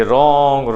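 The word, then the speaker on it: wrong: फिर W और R में बचता है र, ठीक है ना, W हो जाता है वहां पे साइलेंट, जैसे कि रॉन्ग, राइट, ये सारे में W से शुरू होता है लेकिन साउंड बचती है R की।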